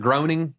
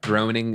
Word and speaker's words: Groening: Matt Groening, I think is how you say his last name, is from the future.